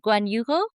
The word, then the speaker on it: Guanajuato: Guan- Guanajuato? Maybe I'm pronouncing it incorrectly in Spanish. Guanajuato?